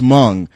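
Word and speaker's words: Hmong: the girl keeps correcting no it's Mong it's like well then why is there a goddamn H in there well he all he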